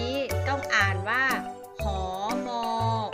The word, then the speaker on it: หมี: อาวรณ์ าว า แต่ ว่า หนาว ค่ะ หรือ อย่าง ต่อ ไป นะ คะ คำ ว่า หมี อ่าน ว่า มี หมี คำ ว่า หนอน อ่าน